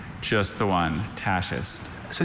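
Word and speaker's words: tachist: Tasist.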